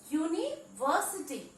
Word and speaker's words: university: University. We all know university. University begins with U, which is a vowel. But the pronunciation of the first word U is U,